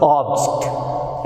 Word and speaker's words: object: Here also you can see the stress is on first syllable, that is ob.